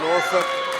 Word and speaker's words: Norfolk: She did not say it right, that is true. From Sydney, Australia, did not know it is Norfolk instead of Norfolk.